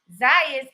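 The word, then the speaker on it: Tszyu: Ralphie says Tim Zayas is Zoo. They pronounce it Zoo.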